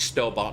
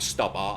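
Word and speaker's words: Stobart: some any store bar it's still about not stubborn that's pronounce pronounce it properly I'm gonna see if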